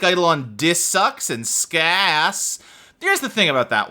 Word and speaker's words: ska: The A in ass is not how you pronounce the A in ska.